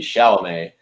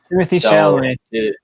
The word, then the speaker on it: Chalamet: And I think Timothy Chalamet is a great guy to pull it off.